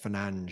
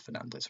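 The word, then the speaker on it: Fernandes: I'm not sure actually because I think Fernandez is something like Fernange or something. Yeah. Yeah. If you ask him what his pronunciation is, he says what you've just said. But yeah, everyone just butched it. Fernandez, which I think is a bit more fair enough. Like that seems to be so set in everyone's ways.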